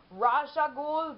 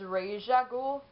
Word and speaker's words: Ra's al Ghul: Who, for some reason in the beginning, I used to pronounce it as Ra's al Ghul, but it's Ra's al Ghul.